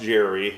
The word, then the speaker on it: Gerry: So Gerry Philbin, and it is pronounced Jerry and not Gary because it is short for Gerald.